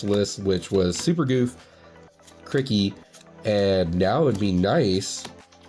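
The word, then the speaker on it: Cri-Kee: I know it's not Cricket, it's Cricky. Maybe that's why I was saying his name wrong this entire time.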